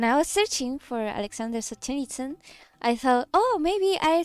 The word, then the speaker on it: Solzhenitsyn: From Solzhenitsky.